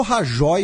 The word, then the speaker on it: Rajoy: partido não vai apoiar rahy para formar governo na Espanha eu falo rajoy porque eu sou humilde entendeu falo pronúncia brasileirada tô nem aí entendeu Sou Aldo Rebelo